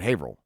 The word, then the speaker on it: Haverhill: talk so fucking fast, they just remove letters from words. Okay, so there's a town called Haverhill, but it's spelled Haver, like Haverhill, but they just pronounce it Haverhill.